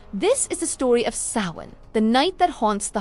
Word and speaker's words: Samhain: This is the story of Samhain, the night that haunts the heart of Halloween.